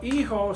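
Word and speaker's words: hijo: M and mha well eho spells h i Jo o and me is MI I we know the H is silent so if you take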